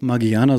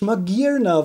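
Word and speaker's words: Magearna: Ich habe nie nachgedacht, ob Magiana so ausgesprochen wird. Das heißt Magirna? Das ist so logisch, Magirna, weil es...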